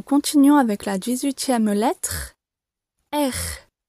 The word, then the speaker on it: R: Nous continuons avec la 18e lettre, R. R. Le son est très court et l'intonation est plutôt montante.